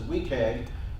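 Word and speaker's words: WCAG: web content accessibility guidelines which I'm going to pronounce as we tag kind of along the same pronunciation rules as nagua right we kind of abbreviate it as best we can currently it's in version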